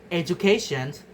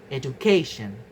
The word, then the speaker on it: education: In the words educations the best stress is educate but in the derived stress becomes education education. So the stress move to the syllable immediately before the suffix tion. The stress shifts from the third syllable to remains on c the syllable before tion.